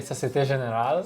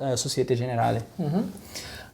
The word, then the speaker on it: Société Générale: We are sitting at the headquarters of Société Générale, which is, did I pronounce it correctly? Société Générale. Société Générale, which is a French bank, yes, present in 67 countries, 32 million customers worldwide.